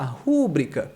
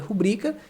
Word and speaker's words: rubrica: Então você pode pensar assim, rúbrica, proparoxítona, ok. Só que não é assim que se escreve, a palavra é rubrica sem esse acento, então por isso que está errado.